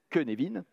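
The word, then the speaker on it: Cynefin: mesure vous aurez les références c'est le modèle kenevin qui ne s'écrit pas queenevin qui s'écrit sinefine c'est y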